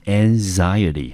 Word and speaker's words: anxiety: the nightbefore it，在考试的前一天。这边的 it 指的就是那一场考试。好，那这边呢，除了我们说一个人对什么事情感到焦虑之外，我们还可以用 be anxious，后面呢接上一个 that，加上主词再加上动词，表示我们对一件事情感到忧虑，那就直接接 that 这个名词子句。好，那 anxious 之后呢，来我们再来看一下我们这个字的名词，这个字念成 anxiety。